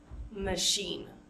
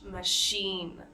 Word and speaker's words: machine: sugar machine right and with machine we want to avoid saying Machin even though it's a CH we pronounce it as an sh sound sh machine machine so again just because